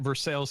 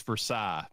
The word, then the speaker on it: Versailles: It's like Versailles, Kentucky. Yes, in Paris, France, it's Versailles, but we say Versailles, and that's what we call it.